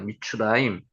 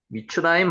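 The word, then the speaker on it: מִצְרַיִם: 미스라임 요거 읽으면은 한 여기 히브리어 발음이 미추라임입니다. 미추라임. 미츠라임 한번 해 보세요. 미츠라임은 자주 나옵니다. 미추라임.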